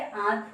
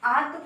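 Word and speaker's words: आँत: आपका ये आंत हो गया, तो आप आंत को आंत नहीं बोल सकते, क्योंकि यहाँ पे चंद्र बिंदी लगी हुई है।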